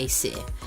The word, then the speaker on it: Acesir: I didn't come up with the name, Acer. just saying, but we pronounce it Acer.